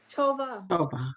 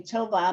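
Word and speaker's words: טובה: Tova. Right. The hey is silent at the end of a word unless there's a vowel. So here there's nothing under the hey. Tova means good.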